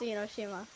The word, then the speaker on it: Enoshima: in oshima willow enoshima did i say that right it's pronounced in oshima willow willa what you